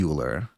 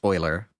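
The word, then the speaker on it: Euler: uler um excuse me not uler oer this is this has been drilled into my head so I don't know why I still get it wrong the name is pronounced Oiler and you can change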